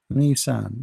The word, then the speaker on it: Nisan: Nisan. Nissan, the same as a car brand.